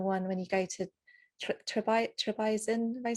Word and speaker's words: Trebizond: Italy and the one when you go to Trebizond.